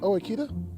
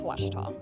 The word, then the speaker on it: Ouachita: University back in Texas everybody pronounces it Witchita but really it's wash wash wash how would you pronounce it wash it's was Baptist University get it right it's was people it's